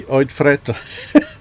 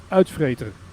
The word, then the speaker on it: uitvreter: Pronounce it like uitvreter. Uitvreter. Uit. Out. Not uit. Not uit, maar uit. Uit. Uit. Uit. That's Out. correct. Out. Vreet. Uitvreter. Uitvreter. Yeah, Uitvreter. that sounds good.